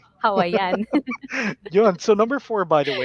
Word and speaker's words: Hawaiian: pagkaka-pronounce, pagkakadiin sa word, Hawaiian. Hawaiian.